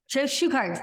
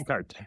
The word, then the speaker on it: Shuchart: Shuchart, yes. Shuchart. Okay. Age is silent.